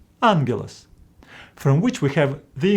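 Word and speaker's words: ἄγγελος: pronounce them as gap Greeks came with a solution to pronounce the first gamma as n for example in this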